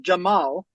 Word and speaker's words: Cemal: Because so people ask me, say it's like Jamal, right? I don't have a Turkish accent. So Jamal, Cemal is Jamal, is my name, right? But in kindergarten, no one could pronounce Jamal. It was Cemal, Cecal, Camel. Because it's spelled, Cemal, but then with the pronunciation. I love it because then people the C is like a J.